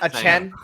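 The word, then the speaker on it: Achane: He wanted it to be pronounced a Chen. A Chen? Oh, okay. Well, if that's what he's publicly said, then it's going to be a Chen.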